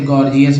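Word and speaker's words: gorgeous: इसके बाद देखिए जी को ग ज बोलते हैं, जैसे गॉर्जियस वाले में देखिए गॉर्जियस में पहला जी ग, दूसरा जी ज, एक ही वर्ड में दोनों को उच्चारण मिल गया, तो ये जरूरी था।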